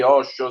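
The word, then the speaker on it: Osho: Si scrive così, Oso. Sì, sì, si scrive proprio così. O s H o.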